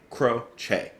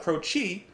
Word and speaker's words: Croce: people talking about it it's jim crow che not crochet crochet at least that's